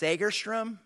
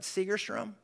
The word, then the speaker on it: Segerstrom: Performing Arts Theater by the way church is pronounced sagerstrom not Segerstrom and and you say my Mike White's out